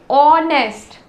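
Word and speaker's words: honest: बोल रहे हैं ऑनेस्ट यहां पे एच साइलेंट है आवाज आ रहा है ओ का ऑनेस्ट ओ तो यह भी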